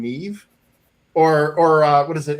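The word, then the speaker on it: Niamh: of these names like N I A MH. Apparently, that's the word that's the name Nev or uh what is it?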